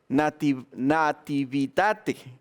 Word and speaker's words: nativitate: La palabra Navidad viene del latín y se pronuncia nati, vita y te, nativitate, que significa nati, nacimiento, vita, de la vida, y te, para ti.